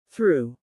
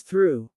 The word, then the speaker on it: through: through. Pronounced as through. Many learners struggle with through because of the th sound. Put your tongue slightly between your teeth and push air gently.